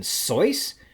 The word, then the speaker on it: Seuss: the icy hot commercials apparently Dr Seuss's name rhymes with voice as in soyce I guess we were